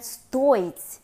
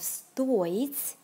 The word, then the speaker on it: стоить: For the present tense forms of стоить, the stress goes on the first syllable.